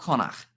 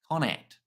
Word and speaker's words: Connacht: Not Connacht. Connacht.